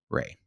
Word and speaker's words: Wray: And then I'm on TikTok at That Ray, Instagram at That Ray. THAT, that Ray? Yeah. THAT. And it's WRAY. There's a silent W at the beginning of Ray.